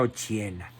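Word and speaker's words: Occhiena: se llamaba Margarita Ochiena, con doble C, se pronuncia Ochiena.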